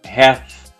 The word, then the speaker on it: hath: vai dizer thy hands hath made, com som de TH. Hath made. Ou alguns cantores até não pronunciam esse hath, esse sonzinho, né? Eles comem mesmo o have.